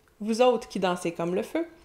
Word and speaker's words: vous autres: Vous autres qui dansez comme le feu, vous autres, mais on prononce pas la fin, vous autres qui dansez comme le